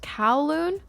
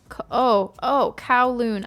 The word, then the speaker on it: Kowloon: It's pronounced Kowloon. Kowloon.